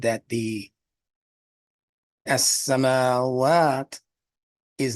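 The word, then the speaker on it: السماوات: As-samawat. The actual word that means skies in Arabic is as-samawat. You see the difference? As-samawat. No emphasis on the ma part.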